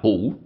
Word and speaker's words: phủ: Chữ bất này phải đọc là phủ. Phủ của Khả Phủ.